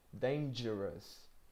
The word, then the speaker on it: dangerous: You can see j in the highlighted the highlighted part in the word, right? That's the same phoneme as in jazz, is it?